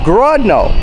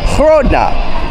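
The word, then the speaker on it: Гродна: lot of money from Grodno or as it is pronounced in Belarusian Hrodna Belarus thank you for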